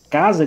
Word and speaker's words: casa: por exemplo, a palavra casa aqui, observe que o fonema aqui é um fonema Z. Só que nós temos aqui a figura do S representando o Z.